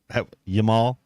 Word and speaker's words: Yamal: it's lame l a m i n e yamal how y yamal can fit I thought maybe you were pronouncing Jamal with a with with with the